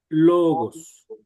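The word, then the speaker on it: λόγος: Eh, logos, correcto, logos. Y esa es la pronunciación. ¿Por qué? Porque el acento está en la primera omicron y se complementa con todas las demás letras. Entonces, es logos.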